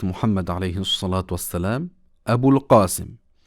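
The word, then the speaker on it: أبو القاسم: Alayhi Salat wa Salam Abu Al Qasim. Et on peut également dire en arabe Abu Al Qasim parce que le Qaf peut être prononcé Ga.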